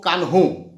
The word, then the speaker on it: কানু: দুইজন নেতা সিধু কানু উচ্চারণটা সিধু না উচ্চারণটা সিধ ও কানহো ঠিক আছে সিধ কানু